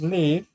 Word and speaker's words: live: Pero este verbo aquí termina en una E que no pronunciamos, decimos live.